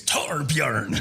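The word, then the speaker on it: Torbjörn: Torbjorn. It's Swedish. Gosh, child, you're- he's Swedish, but like Johnny goes, how do I Torbjorn? And the guy, he's like, It's Torbjorn. yeah. So it's like Thanks, Torbjorn.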